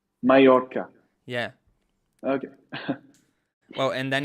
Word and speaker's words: Mallorca: uh yeah but just mayoka you know and how do you pronounce it in spain no it's not just difficult because it's not an l like this like double l says e mallorca mallorca yeah okay well and